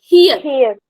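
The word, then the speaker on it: 히읗: It's not Thiyat. It's Hiyat. Her. Yes. Hiyat. Yes. And the pronunciation will be her.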